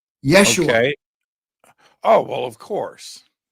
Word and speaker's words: Yeshua: I'm not I'm not a scholar so well Yeshua is how it's pronounced is actually Jesus's real name is that